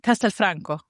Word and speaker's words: Castelfranco: Castel Castelfranco.